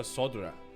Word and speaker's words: Arkasodra: Together they defeated the warlike Gajasura, forcing them to flee Thavnir Oh, it's pronounced altogether. Arkasodra.